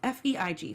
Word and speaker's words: Feig: because it's a new half-hour comedy, and Paul Feig, is that how I'm pronouncing his last name right? It's Feig.